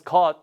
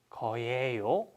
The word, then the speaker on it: 것: But 어떤 거, like I said, we don't pronounce 것, right?